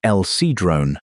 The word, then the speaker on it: El Sidrón: At El Sidrón, pronounced El Sidrone, in northern Spain, 13 Neanderthals died about 49,000 years ago.